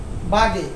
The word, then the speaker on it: Waage: কারণ জার্মানি ভাষায় ডব্লুর উচ্চারণটা কির মতো হয়? তোমার বয়ের মতো হয়। কেমন? ডব্লুর উচ্চারণ। তো এটা যদি বি হয় তো বি বাগে, BAAG, বাগে। আচ্ছা যাই হোক, এটা সঠিক উচ্চারণটা হবে পিটার বাগে।